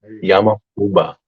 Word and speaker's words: Yama-uba: yamama uba I'm so proud of myself I'm pronouncing it correctly Now yba Yama uba is known for her unusual diet which sometimes